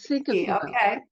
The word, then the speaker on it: cinquefoil: that how you pronounce it? Yeah, that's cinquefoil. Okay.